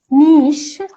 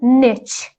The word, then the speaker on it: niche: a company finds a niche or niche two pronunciations niche or niche market and the meaning